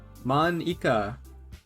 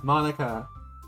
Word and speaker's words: Monika: you of all people because it's writing your name manika that's not how you say my name at all also that joke makes no sense in translation huh never mind ah monika at a four-fold breaking